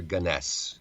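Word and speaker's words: Gunness: Gunnness or or Ganess uh pronunciations vary on this.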